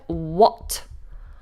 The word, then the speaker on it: what: Another question word, what? What are you doing? This is an easy one for most people, but if you're new to this word, the H is silent. We just do w.